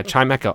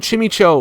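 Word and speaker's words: Chimecho: Oh, yeah. Chimeo. I always called him Chim Cho. Why did I call him that? I That was my mispronunciation again.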